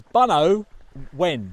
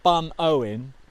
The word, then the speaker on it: Bunowen: It's Bunowen, not Bunowen. No.